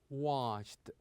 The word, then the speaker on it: washed: We usually pronounce the ending of this verb with the sound ta. With the sound ta. For example, we say liked, liked. Also worked, worked. And here washed, washed.